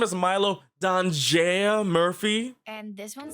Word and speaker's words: Danger: Besides, there's only one person in this town I need to stop, and his middle name is Danger. Milo Danger Murphy? No, it's pronounced danger.